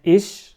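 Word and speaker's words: ich: خفيفه فهنا اول مثلا عندنا اش بتنتنطق زي الشين اش تاني كلمه عندنا النخط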